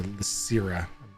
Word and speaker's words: Lysira: As Lysiria, sorry, not Larissa, Lysira, mispronounced her name.